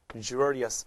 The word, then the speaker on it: luxurious: lux 발음 보세요. luxurious 발음이 바뀌죠.